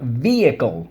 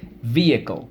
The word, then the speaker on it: vehicle: what's the word awesome vehicle we say vehicle if you remember but we spell it vehicle vehicle some people down south we'll call it a vehicle depending on where you're from okay vehicle so let's